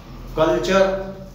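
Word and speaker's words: culture: टी के बाद यू आर ई आया तो उच्चारण चै हुआ फ्यूचर। कल्चर, टी के बाद यू आ रही है कल्चर, कल्चर माने संस्कृति या सभ्यता तो उसमें भी ऐसे ही हुआ।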